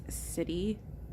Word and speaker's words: siddhi: being a siddhi, which siddhi is spelled S-I-D-I, not C-I-T-Y. It's siddhi.